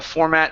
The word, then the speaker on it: format: they're used the same some people do say format okay but I believe that's incorrect the format as a verb and noun is always going to be format with the stress at the beginning so yeah that's what